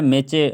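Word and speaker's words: match: हुआ है मैच, मैच, मैच में जो है मैचे, मैच मैच नहीं पढ़ रहे हम लोग, मैच पढ़ रहे हैं, मैच मैच। इसमें जो है टी साइलेंट है क्योंकि इसके आगे सी आंच लगा हुआ है, इसलिए टी साइलेंट है, ठीक है।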